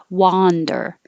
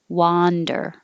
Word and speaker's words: wander: It's wa, like boss, wander. And 18 is up, wonder. I was wondering if you could go to lunch. Wonder, wonder. 17, wander, wander, wonder. Very similar, I know, but you have to open a lot for wa. Wander, wonder. You don't have to open hardly at all. Wonder.